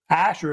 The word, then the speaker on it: Ashur: A-s-h-e-r spell either way Ashur is how they say it and by the way